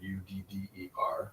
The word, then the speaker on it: udder: Everyone pronounces both those words as udder. I'm utterly exhausted. Uh-huh. That cow has an udder. And the one is TT, one is TD. Uh-huh. And people will think like, oh no, they should be pronounced differently. We're just kind of being sloppy and lazy in our pronunciation. not. So people will be like, no, utter versus udder. It is not. The sound there is called a velar flap.